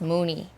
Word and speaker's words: Munilong: an ancient sage but it's pronounced mooney and the sage and